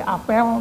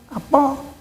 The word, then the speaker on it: apel: berbeda karena dibacanya beda contoh yang umum adalah seperti apel dan apel tulisannya sama apel dan apel apel yang kalau dibaca e kan apel itu artinya rapat upacara tapi kalau apel enya